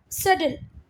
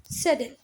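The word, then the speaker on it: subtle: क्या सटल? इसका जो प्रोनाउंसिएशन है भैया बहुत ही अलग है, ऐसा प्रोनाउंसिएशन है इसका, सटल। ठीक है, आप लोग गूगल पे देख भी सकते हैं।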